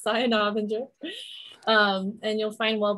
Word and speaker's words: Saya Novinger: just search my name saya navenger correct pronunciation yes cyan avenger um and you'll find